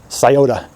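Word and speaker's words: Scioto: know o Tangi or sayota sayota as it's properly pronounced uh whatever bodies of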